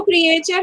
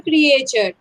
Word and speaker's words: creature: Okay, now creature means, आप इसको creature नहीं बोलोगे. Many people do this mistake. They pronounce it as creature. It is never creature. A is silent.